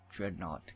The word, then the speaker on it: Dreadnought: Dreadnought Galaxy. I guess Thought, it rhymes with Thought.